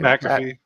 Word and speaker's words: McAfee: McAfee.